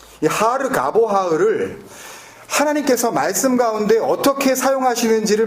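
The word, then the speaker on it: הר גבוה: 매몰돼 버린이 높은 산 히브리어로는 하르 가보아라 이렇게 발음하는데이 하르 가보 아흐 하나님께서 말씀 가운데 어떻게 사용하시는지 만약에 우리가 찾을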